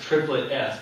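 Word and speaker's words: ³S: So this S here, 3s, is supposed to be pronounced triplet S, because this is an S orbital in a triplet state.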